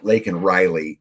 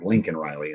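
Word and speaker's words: Laken Riley: name what she was talking about was um lak and Riley and Biden mispronounced her name and called her Lincoln Riley during the speech but um about the little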